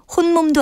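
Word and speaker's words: 홑몸: 밑에 티읕 받침을 쓰고요 발음은 혼 몸이라고 합니다 따라서 임신부에게 말할 때 혼 몸도 아닌데 조심하세요라고 말해야겠지요 바른말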